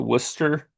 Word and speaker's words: Worcester: And it's close to Worcester. That's how they pronounce it up there.